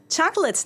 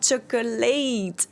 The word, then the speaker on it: chocolate: Chocolate. Not chocolateate.